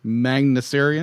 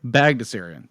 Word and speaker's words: Bagdasarian: How do you pronounce the guy who created Bagdasarian is my best estimation. Magnusarian? Bagdasarian. Bagdasarian. Thank you.